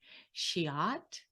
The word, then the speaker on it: Scheat: It's spelled Scheat. Shiat.